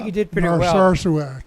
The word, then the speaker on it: Narsarsuaq: Did I pronounce that correctly? I think Bob? you did pretty well. Narsarsuaq. Narsarsuaq?